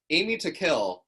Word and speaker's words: Amy Takill: And so the whole name is Amy Takill, because if you say it right, it's aiming to kill.